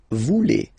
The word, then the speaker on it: voulez: Same thing here, classic ending EZ for vous, but then you pronounce it et. Vous voulez.